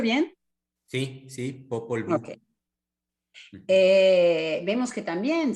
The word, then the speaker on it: Popol: ¿Lo pronunció bien? Sí, sí, popol.